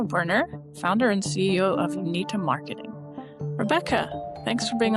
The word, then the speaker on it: Unita: Well, first, I want to commend you on pronouncing Unita correctly. That's not something that happens very often. And I tell people they can remember how to say it by, you need a marketing partner.